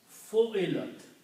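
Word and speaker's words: فُعِلَتْ: If I change this to a dhamma and change this to a kasra, okay, keep these two as they are. This word becomes fu'ilat.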